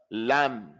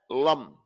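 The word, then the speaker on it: لم: It's not lum. Lum. From the lamb to the meme with no fatah.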